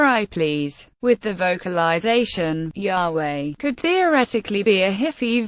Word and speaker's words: Yahweh: most widely accepted pronunciation of the tetragrammaton is Yahweh Denis broadest suggested the pronunciation job based on Theodore raised assertion that